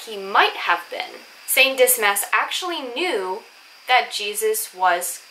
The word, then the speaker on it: Dismas: talk about is actually saint dismas or others pronounce it dima now it's up to you but i prefer dis mass because this mess is just easier for me to pronounce and we